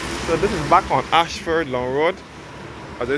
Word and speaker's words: Ayshford: the school now so this is back on Ashford long road as I said before this Ashford is spelt Airway s f Rd and this